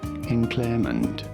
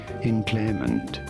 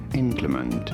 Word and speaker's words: inclement: Inclement, with an emphasis on the second syllable, inclement. In American English, however, it is usually pronounced as inclement.